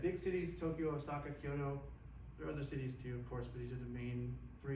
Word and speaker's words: Kyoto: Nature influenced by that is that if you go to Kyoto, or Kyoto, sorry, if my wife is here, she'd be like, "Hey, give me the look."